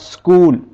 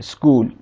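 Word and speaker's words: school: इसने चेक की आवाज़ निकल है इसी तरह स्कूल यहां पर देखें च इकट्ठा है इसने काफी वास निकल है स्कूल और यह ऐसा क्यों हुआ है आप गौर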